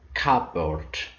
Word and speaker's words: cupboard: compound words for example cupboard cardboard so knowing that cardboard is made up of cap and the board helps you to remember the silent p in the word cupboard great kids now let